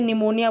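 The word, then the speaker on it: pneumonia: जैसे कि नॉलेज बोलेंगे तो वहाँ पे के साइलेंट होता है, निमोनिया बोलेंगे तो वहाँ पी साइलेंट होता है।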